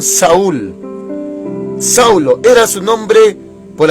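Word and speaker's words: Shaul: Algunos judíos le dicen Saúl, S-H-A-U-L, pero en su pronunciación Saúl.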